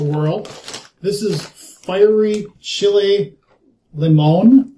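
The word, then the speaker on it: limón: This is fiery chile limon. Limon? I don't know. It's the accent on the O.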